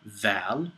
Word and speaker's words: ذ: The next one is a wolf, or dhi'ib, and begins with a dhal, which looks like a dal, but has a dot over the top of it. It's pronounced like this or that.